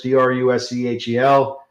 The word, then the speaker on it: Druschel: I don't know if it's Drusel or Druskel, because they have that CH in there. It's Druschel.